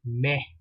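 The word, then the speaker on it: mai: month of May excuse me you have the month of May and you write that m a i which is meh it's not exactly me it is meh okay you hear the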